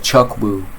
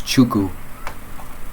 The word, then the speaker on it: Chuku: the same way too looks like Chuck Wu it's chuku it's pretty cool anyway um